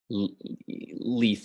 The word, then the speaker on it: Lethe: They would drink from the river Leith. Can you spell that for me? Yes. I'm not seeing it. There. I can pronounce it again. Yeah, why don't you pronounce it again? River Leith. Lethe.